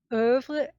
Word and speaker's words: oeuvre: Oeuvre. It depends how French you're going to be. It's ouvre, Well, you live in Canada, so you have to be pretty French.